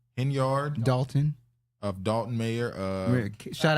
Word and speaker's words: Henyard: Henyard.